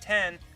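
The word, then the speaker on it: 天: The kanji for heaven, pronounced 10, appears on the back of his gi.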